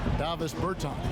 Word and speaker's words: Bertans: Davis Bertans.